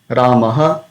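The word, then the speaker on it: रामः: So basically, while pronouncing Visarga, we have to pronounce ha sound but with a dropping effect. So, Ramaha, Ramaha, Harihi, Gopihi, Guruhu, Vadhuhu, Harehe, Vaishnavaihi, Guroho, Klauhu.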